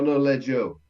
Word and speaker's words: noleggio: Because I was telling Martin a second ago, he had this tendency last time to put a bit more stress on the last letter of the verb.